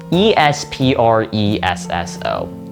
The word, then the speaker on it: espresso: This C is kind of just thrown in the middle, but in reality it is pronounced the same way it's spelled. E S P R E S S O which makes it pronounced espresso.